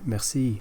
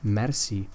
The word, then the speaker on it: merci: This is the French word, but we don't use the French pronunciation merci. We say merci, and you will hear it quite often in Barcelona. Gracias, merci, thank you.